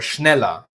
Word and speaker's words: schneller: "Er" in British is "uh", but in German is always pronounced "ah", a somewhat dull "ah".